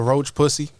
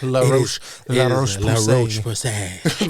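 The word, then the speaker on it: La Roche-Posay: That's not the actual. He's just mispronouncing this. But company. I'm sorry. I don't want to butcher it because I know it's not English. It's like La Roche Pussy. Like the Roach Pussy.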